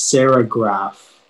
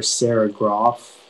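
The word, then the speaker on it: serigraph: the silk screen process sarah graph oh sorry it's sarah graff and also can you bring your hands up paragraph yeah you have all the information please yeah so the um it can be pronounced stereograph or sarah groff it's a noun and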